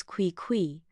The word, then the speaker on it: Qui Qui: For one, his name was Qui Qui, pronounced Qui Qui, which sounded less like a cat and more like a squeaky door.